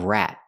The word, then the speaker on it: rat: me out we need a stop tea at the end of rat rat r or rat